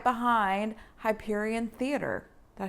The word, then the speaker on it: Hyperion Theater: Anyway, Mile 2 is right behind Hyperion Theater. Did I say it right? Mm-hmm. Hyperion Theater, home of the esteemed Rogers the Musical.